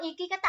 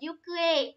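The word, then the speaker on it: 行方: Đấy, bạn kẹo đắng ơi, ikikata là sai rồi nhá. Phải có chữ ki ở giữa thì mới là ikikata. Có nên đọc là yukue, hành tung.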